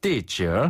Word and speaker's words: 地址: 이게 네. 칠 발음이 네. 칠을에서 약간 좌우로 약간 으깨주면은 발음이 나네요.